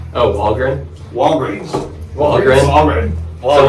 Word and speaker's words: Wallgren: Wallgren, man. It's a short E for the... Yeah, dude. Yeah. I was always like, I always want to say Walgreens.